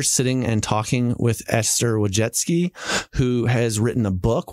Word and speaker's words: Wojcicki: Well, so this is Esther Wojcicki. Did I say it right? Wojcicki.